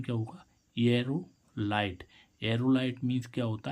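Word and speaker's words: aerolite: तो इसका उच्चारण क्या होगा, एरोलाइट।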